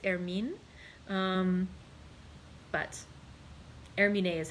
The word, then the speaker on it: Hermine: name is spelled h-e-r-m-i-n-e and so i think it was hermine is how it would be but i was thinking hermione would you know from harry potter and so that's what i was pronouncing with the with the e pronounced but since there is no accent it probably actually is air mean um but hermene is